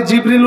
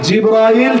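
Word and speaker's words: جبريل: আমি আপনাদের সামনে জিবরিল উচ্চারণ করেছি, গোলমাল বুঝবেন না, জিবরিল আলাইহি জিব্রাইল জিবরিল দুটোই উচ্চারণ হয়।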